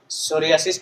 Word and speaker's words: psoriasis: तो साइकोलॉजी की स्पेलिंग क्या हो जाएगी? PSYCHOLOGY। सोरियासिस क्या हो जाएगा?